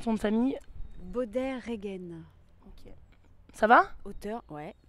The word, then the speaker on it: Beaudet-Regen: Alors, comment on prononce ton nom de famille? Baudet-Regen.